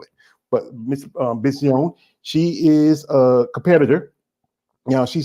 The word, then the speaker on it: Benzion: Yeah, My and last name is Benzion. That's how it's pronounced. Benzion.